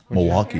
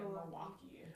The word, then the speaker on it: Milwaukee: Milwaukee. Apparently I said the L too much. Milwaukee. It's supposed to be like Milwaukee. There's the L there for a reason.